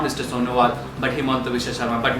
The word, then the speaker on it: Sonowal: The third player is Sonowal. He's called, Assamese actually pronounce it as Honuwal, S is silent.